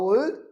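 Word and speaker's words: old: ओल्ड में डा silent होता है। हाउ ओल्ड आर यू, डा साइलेंट। हाउ ओल्ड, ओ ओल बोलना, कहीं आउल बोल दो। तुम कितने उल्लू हो, हाउ आउल यू आर।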